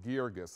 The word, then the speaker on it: Guirgis: crazy this exciting new play by Stephen Adly Girgis it's pronounced vergis a lot of people ask me about that